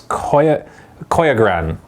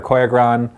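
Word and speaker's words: Koiogran: It's Koyagran, or as the British guy in the video said, the Koyagran, or whatever. So it's Koyagran or Koyagran. That is the correct way to say it.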